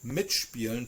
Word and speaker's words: mitspielen: give you an example, it is still pronounced with a st or a sp.